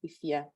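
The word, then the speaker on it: Afua: A Friday born male is Kofi or Fifi, and the female is Ifia or Ifwa. Although it's spelled Ifwa, it's pronounced Ifia.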